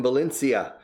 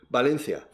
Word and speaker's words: Valencia: No, Valencia. And again, they always say Valencia con B y con C o con la C. And finally I say, do you speak Valencian? I said, yeah, perfectly. How do you say Valencian? Valencia. They say in their in Valencian, they say it correctly. And it's identical to English.